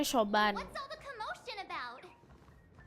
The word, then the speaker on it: Siobhan: Bacanya Shoban.